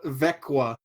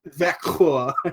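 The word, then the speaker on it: Växjö: That's Yeah, because they went from Hovda to Vekwa, which is like VAXJO, umlaut over the A and the O. It's not Vacchio, it's like Yeah. Vekwa.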